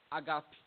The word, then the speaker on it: agape: Só que, na verdade, a aspiração maior fica no segundo A, fica um agape. Agape.